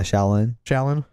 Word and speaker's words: Shaolin: He bought a double album called Once Upon a Time in Shaolin. Am I pronouncing that correct? Yeah, Shaolin.